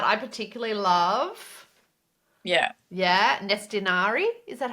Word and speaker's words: Nestinari: yeah, Nestinari.